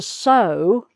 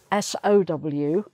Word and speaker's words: sow: To sow, S-O-W, is to put seeds in the ground for them to grow. So you can link sow with grow if it helps you remember.